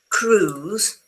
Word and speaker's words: cruise: A cruise. Remember, do not pronounce the I, not cru cruise.